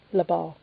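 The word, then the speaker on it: Le Bans: capital B, small A-N-S, with the S being silent, Labar.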